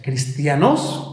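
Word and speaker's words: Χριστιανός: Cristiano, hermano, esta palabra es griega, viene del griego cristianos, con J. O sea, cristianos, con acento en la O, como si dijeras cristianos, pero con J.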